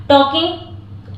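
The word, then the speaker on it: talking: टाकी मतलब बात करना टॉकिंग एल साइलेंट रहता है अगर के के पहले आया हो तो टॉकिंग हमेशा बात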